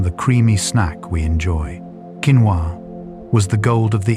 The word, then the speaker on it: quinoa: Quinoa was the gold of the Incas. Quinoa, pronounced quinoa, was so important to the Inca